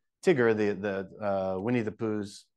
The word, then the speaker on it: Tigger: reason for that is because it's TI G is the first syllable so it's a short I but TI and then g e r i is the final letter so it's going to say the long sound like tiger or lion right so you can't